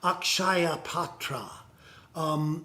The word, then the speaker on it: Akshaya Patra: Also, back down here to the bottom, this is Akshaya Patra. Akshaya, pronounce. Syllables, Akshaya.